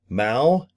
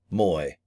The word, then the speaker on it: Mui: I was saying Mao. It is actually Moy. I need to think of M O Y, not M UI.